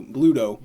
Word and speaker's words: Bluto: Not Pluto. Bluto.